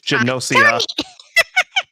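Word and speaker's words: Gnosia: With that, next up we have Nocia or Nasia. I'm pretty sure the G is silent in any case. Nope, it's Genosia.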